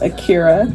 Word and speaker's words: Akira: what is my name my name is Akira that's how it's pronounced and my um my